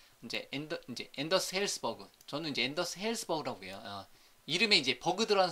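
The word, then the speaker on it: Anders Hejlsberg: 저는 이제 앤더스 헬스버그라고 해요.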